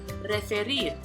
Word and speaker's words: referir: So let's check out the Spanish verb referir, meaning to refer. So in the final syllable, rir, spelled R-I-R, is stressed.